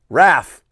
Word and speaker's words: Raph: Also, my nickname, Raph, is pronounced, like Raph.